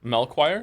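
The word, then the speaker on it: Melchior: Melchoir is how you say his name.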